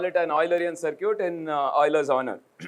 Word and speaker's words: Euler: an eulerian circuit in euler's honor and of course remember it's euler okay so you should always